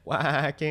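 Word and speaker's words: Waacking: But yeah, punking, whacking, and then whacking is how I usually explain it in my classes because it's nice and memorable because that's how you pronounce it, really.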